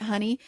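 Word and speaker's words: hwyl: healing called honey, which sounds like the stuff that you put on your um your toast, right? Honey, but it's spelled H Y Ni. It's Welsh for energy. and she created it to go uh healing modality that goes through all of the cycles of the year. It has alchemical considerations in each cycle of the year.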